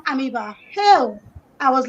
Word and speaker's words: amoeba: to the UK and I learned it was pronounced amoeba, hell, I was like, my people, our teacher,